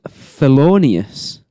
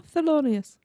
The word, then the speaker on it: Thelonious: I always thought that character was felonious. No, Thelonious. TH. Why? Because that's how it's spelled. Because it makes more sense to visit like a felon. So felonious. No, Thelonious is a name.